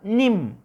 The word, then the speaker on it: nim: Nim, la palabra nim. Nim, se dan cuenta que la I lo pronunciamos muy sencillamente.